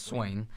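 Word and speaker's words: Swaim: Swain who I just learned how to say his last name it's swing so I think we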